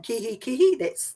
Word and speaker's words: Kihikihi: and Kihikihi subdivision of the Awamutu, is it Kihikihi Community Board? Yeah, you did pretty well. So Awamutu and Kihikihi, that's right on the money.